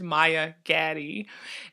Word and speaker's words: Maya Gaddie: Her name is Maya Gaddie, and I actually pronounced her name wrong in the beginning because I'm like a total dunce, but it is Maya Gaddie, and she is really amazing.